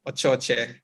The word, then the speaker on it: Ochoche: So, what about you, Oshoshi? Is the way I should pronounce? That's fine. Ochoche. Ochoche. Okay.